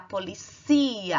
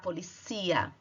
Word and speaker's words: policía: Enquanto em português você fala a polícia, em espanhol você vai falar la policía. A sílaba tônica está no cia. La policía.